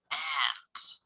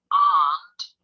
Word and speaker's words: aunt: If your mother has a sister, she is your aunt or aunt. The pronunciation of aunt is British English. Aunt is American English.